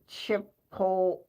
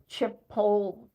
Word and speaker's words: Chipotle: So it's Chipotle, but it's T-E on the end, Tay. Chipotle.